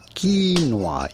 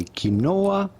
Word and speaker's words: quinoa: Quinoa. You do want to stress on the first syllable rather than the second one. Do not say quinoa, but rather How- quinoa.